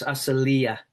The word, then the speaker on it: Asylia: Um, it's aselia in Okay. Not always, but very very commonly the accent of a Greek word is on the next to the last syllable.